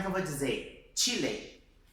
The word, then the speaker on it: Chile: Chile, Chile, tá vendo? É como se fosse realmente aquele T nosso, do português, né?